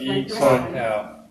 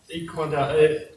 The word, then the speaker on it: I-Kuan Tao: Oh, it's the E is the Chinese pronunciation, and they couldn't think of a better way to say it. It could be I-Kuan Tao. I-Kuan Tao.